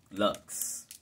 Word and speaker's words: Luxe: Visco Lux. That's what I said. Lux. L-U-X-E. You pronounce it.